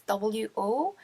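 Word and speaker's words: を: So this is W-O. You can read it as wo, but as I'll show you later, it's pronounced as O.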